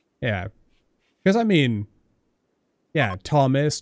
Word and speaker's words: Thomas: because i mean yeah thomas tom there's a little h in there but no one pronounces the h yeah which is handy